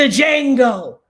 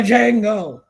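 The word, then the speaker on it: Django: Stop pronouncing the D. It's silent. If I hear one more content creator, the Jango, I'm going to rip my own edges out.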